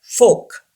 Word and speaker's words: folk: get it started our lesson the first word folk yes our silent folk say this word folk